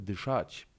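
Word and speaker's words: дышать: polskim czyli gdy szadź Zwróć uwagę na to że akcent pada na ostatnią samogłoskę dychać powiedzmy jeszcze paru przymiotnikach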